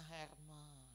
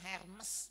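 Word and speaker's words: Hermès: Cuman segini pakai tasnya Herman ya itu bacanya susah bacanya aja ya bukan Hermes Bukan Saudara ya itu bahasa Perancis ya tasnya bisa 500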